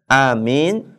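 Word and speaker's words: آمين: kita membaca kata Yasin nah Amin ukuran panjangnya a sama minnya itu seperti kita membaca Yasin ya berapa harakat Ustaz kalau Yaya ya itu dibacanya dua harakat Sin en harakat berarti kesimpulannya Pak A dua harakat Min en harakat Jadi gimana Ustaz Amin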